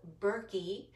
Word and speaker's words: Berkey: So the brand that I like, it's called Berkey, which is spelled B-E-R-K-E-Y.